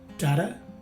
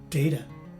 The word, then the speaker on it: data: in the first variation the first letter a is a short a whereas it's a long a in the second variation also note that in